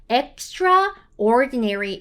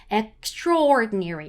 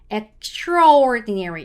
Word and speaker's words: extraordinary: 그래야지 반대말로 비범한이란 뜻이 되는데 자 여기서 발음을 해주실 때 선생님들 extraordinary 이렇게 너무 정직하게 읽어주시면 안 되고요. A 발음이 거의 없다라고 생각하시고 읽으셔야지 자연스러워져요. 그래서 extraordinary 이렇게 extraordinary 이렇게 가셔야지 extraordinary 이렇게 가시면은 너무 정직한 발음이었다.